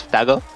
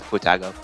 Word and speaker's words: Futago: Well, the authentic pronunciation is Futago, but you can go with Futago.